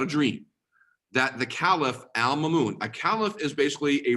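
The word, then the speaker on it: al-Ma'mun: did Al Mamon is how you say that Al Mamon obtain Greek manuscripts so this is a Muslim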